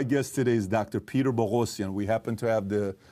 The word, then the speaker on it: Boghossian: Yeah, I tell everybody it rhymes with explosion, just to make it easy.